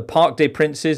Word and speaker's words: Parc des Princes: And in the right pronunciation, I will try. The Maracanã in Belgrade. The Parc des Princes in Paris.